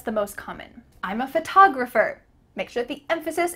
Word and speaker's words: photograph: Do you notice that the first syllable is emphasized here? Photograph compared to I'm a photographer. Ph, that first part is small.